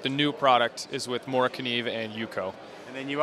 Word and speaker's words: Morakniv: moriv and Yuko is that how it's actually pronounced moriv yeah that's correct Yeah we actually have uh